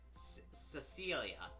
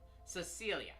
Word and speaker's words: Cecilia: Cecilia. Not Cecilia. Yeah, that's that's how you pronounce it.